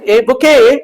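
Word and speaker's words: bouquet: दिया जाता है उसको क्या बोलते हैं सर बुके बोलते इसमें टी साइलेंट रहती है बुके की स्पेलिंग पूछते हैं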